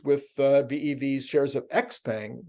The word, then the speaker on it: Xpeng: uh Bev's shares of x-pang or ship hang I think is the right pronunciation we're down more than